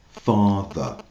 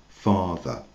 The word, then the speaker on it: father: Un exemple father. Donc là, on prononce pas du tout le e r, c'est un son a father.